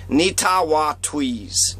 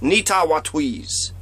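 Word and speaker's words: Netawatwees: Nita want to ease Nita wah tweeze Nita wah tweeze Nita what we's four syllables Nita walk tweeze so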